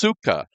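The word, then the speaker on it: סוכה: This word is pronounced sukkah for his cattle.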